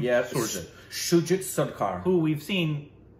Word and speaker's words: Shoojit: Yeah, Shoojit.